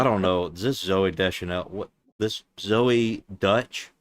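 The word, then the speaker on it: Deschanel: Is this Zoe Desanel? What? This Zoe Dutch? That's what it's spelled like Chanel. That's Chanel.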